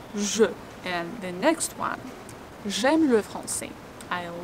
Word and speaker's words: j'ai: Make sure you pronounce it in the same way with this E like smile. J'ai, because it's closed E.